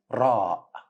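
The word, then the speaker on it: راء: ring in English but it's a flapping letter that means you should say it as clear one not we don't have the Earth in Arabic but we have ra which is clear one hope it's easy let's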